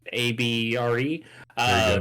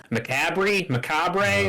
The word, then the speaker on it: Mechabre: But it's called the Macabre, Mechabre, which is great. And it's even better because none of the content creators know how to fucking pronounce it. So everybody's just saying, Macabre, what?